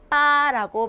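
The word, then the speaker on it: 八: 이래서 손동작도 치라고 하시면 됩니다 자 팔은 중요합니다 빠라고 말씀을 드릴게요 발음이 빠 자 일단 중요하니까 별표 크게 두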